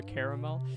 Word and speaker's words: caramel: We can drop this guy if we're on top of Cosmic says it's like caramel or caramel. You know what's funny? That yeah, just like I pronounce it both ways too.